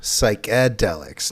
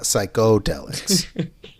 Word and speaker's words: psychedelic: pronounced, though, psychedelics, not psychodelics.